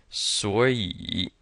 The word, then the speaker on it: 所以: 2 third tones together, so this one's gonna change to a second tone. 所以.